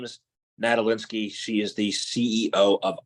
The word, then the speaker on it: Nadolinski: first name is Elena her last name is natal linski she is the CEO of iron fish Foundation